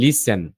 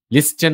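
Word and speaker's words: listen: আপনাদের বলি এখানে যেমন এসটি যখন একসাথে থাকবে তখন টি এর উচ্চারণটা হবে না। টি সাইলেন্ট থাকবে। যেমন লিসেন হুইসল। তো আমি কি হুইস্টল বলছি লিস্টেন বলছি না লিসেন হুইসল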